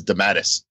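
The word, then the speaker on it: DeMatteis: but it's got a pronunciation guide - often mispronounced creators and his is on there and it says de mattis man good there we go I mean Ralph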